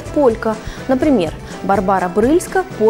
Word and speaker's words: Барбара: Вспомним, что Брыльска – польская актриса, а в польском языке ударение падает на предпоследний слог. Поэтому правильно говорить «Барбара».